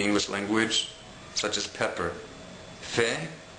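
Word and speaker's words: פ: language such as pepper Fe is similar to the English F like in the word forever the technical pronunciation of the letter Fe is is a little bit different than the letter F in English Fe is supposed to be made by using only your two lips in contrast to the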